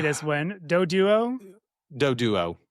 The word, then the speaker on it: Doduo: Doduo? Doduo. Doduo?